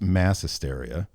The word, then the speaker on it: Maẍ Hysteria: It's pronounced mass hysteria.